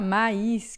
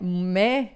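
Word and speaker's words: maïs: Quando tem o trema, você pronuncia separado, tá?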